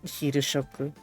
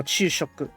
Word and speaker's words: 昼食: I'm sure it's not hiroshoku. But it probably is hiroshoku. I'm just complicating things. Maybe it is hiroshoku. Maybe. Oh, it is just hiroshoku. No, chushoku. Knew it. Knew it was a different way to say it.